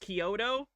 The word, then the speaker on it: Chiodo: Wikipedia says their name is pronounced Chiodo.